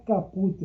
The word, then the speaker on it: caput: Sempre que vocês terem um artigo como uma fonte principal, se pronuncia o caput. Caput, não é caput, é caput.